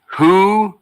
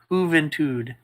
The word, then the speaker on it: Juventud: And Skip is pointing out it is pronounced Juventud. Juventud.